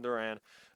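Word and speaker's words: Durán: Griffin, and then the relief pitchers are Johan Dur Johan, sorry, I said it wrong, Johan Duran, uh, Rafael Glaciius, Mason Miller, and then Riley O'Brien.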